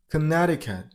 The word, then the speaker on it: Connecticut: I mean on the r sound Colorado number seven Connecticut this turns into dian so connect the cat and the last is blended with d sound Connecticut that's it next number